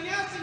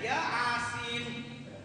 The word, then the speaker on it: Yasin: Bacanya bukan Yasin dia, Yasin.